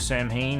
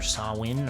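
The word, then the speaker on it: Samhain: year in a row songs of Sam Hayne or sawin or however you want to pronounce that word but uh this is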